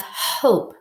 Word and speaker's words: hope: And likewise, instead of hop, now we have hope, because this E is the silent E syllable type, and it's helping the vowel say its long vowel sound.